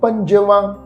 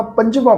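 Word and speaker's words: ਪੰਜਵਾ: गौड़ी पढ़ना गौड़ी महला पंजवा न पंज नहीं पढना पंजवा पढ़ना मैं इ जरूर बेनती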